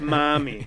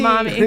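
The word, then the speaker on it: Mami: Yeah, Puff Mommy. Yeah, you have to pronounce it that way. I want to hear the H in Mommy.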